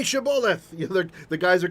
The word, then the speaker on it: Shibboleth: As you can see, right, like, say Shibboleth. You know, the guys are coming across from one tribe across the river, say Shibboleth, and those guys say Sibboleth, off with his head, right?